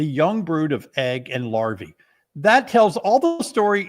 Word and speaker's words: larvae: It's pronounced larvae.